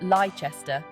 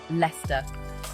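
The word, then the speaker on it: Leicester: for instance it's not liester as tempting as that may be it's pronounced Lester like you've just spotted your mate Les across the street get it right and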